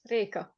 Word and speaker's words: Reka: Is it Reka? Rika? Yes, Reka.